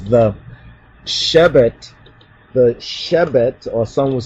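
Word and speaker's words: שבט: And let's continue on with Genesis 49 and 10, where it says the Shebet, or some would say Shevet, but that's the Ashkenazi so-called pronunciation.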